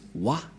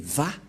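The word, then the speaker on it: ו: C'est pourquoi les gens disent Wa. Mais en fait, ce n'est pas Wa la vraie prononciation, mais Va pour les Juifs.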